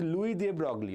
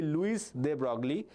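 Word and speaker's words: Louis de Broglie: Okay, if you pronounce in current English, it will be Luis de Brogley, but he's a German. So his name is Louis de Brogley. Okay, the S remains silent.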